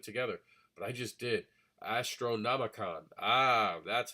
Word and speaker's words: Astronomicon: Astronomicon. Ah, that's how you pronounce it.